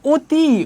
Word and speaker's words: অতি: অ লিখার পরেও আমরা কি অ উচ্চারণ করতেছি? আমরা অতি উচ্চারণ করতেছি মানে উচ্চারণটা হয়ে যাচ্ছে অতি যেমন দেখ নদী আমরা কিন্তু অর উচ্চারণ না করে ও উচ্চারণ করতেছি নদী এমন আছে অভিধান সুমতি